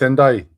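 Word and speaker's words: Ndiaye: NDI. Huh? NDI? Ndai. Pronounce it? It's Ndai.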